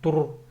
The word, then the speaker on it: тур: А «р» тут тверже. Тур.